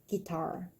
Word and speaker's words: guitar: is a guitar yeah the southern accent guitar a little different dress on the first syllable so your grandpa's get